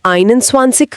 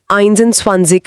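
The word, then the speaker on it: einundzwanzig: 21 में आपने आइन स्वानसिक कहा आइंस एंड स्वासिक नहीं। बहुत अच्छी ऑब्जरवेशन है। ये एक छोटा पर जरूरी पॉइंट है। अच्छा। जब यूनिट वन होता है जैसे 21, 31, 41 में तो हम आइंस के बजाय सिर्फ आइन यूज़ करते हैं। बोलने में आसानी के लिए।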